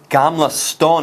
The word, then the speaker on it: Gamla stan: in age no no Gamla stone apparently is how you say this and we're still in